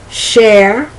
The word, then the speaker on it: Cher: Now that's a very interesting share, share, chair, because the first share is C-H-E-R. The second share, which is pronounced exactly the same, is S-H-A-R-E, and the other chair is C-H-A-I-R. And that first share, like the singer Cher, that's the CH.